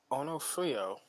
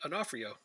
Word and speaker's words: Onofrio: so penalty taking it onofrio and i know that's not how you say it that's how i say it he scores i just knew somebody with that last name so i know how to say it an offer yo i like my saying